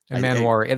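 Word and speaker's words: Emmanwori: Manwari. There seems like there should be another vowel between the N and the W, but there's not.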